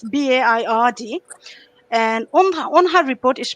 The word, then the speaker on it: Baird: victim commissioner dame virabelle i'm not sure that i've correctly pronounced her surname but it's baird and on her report